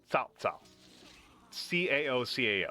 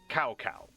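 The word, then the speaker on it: Cao Cao: Uh, a historical guy named Tao Ca Oo, that's how you pronounce it.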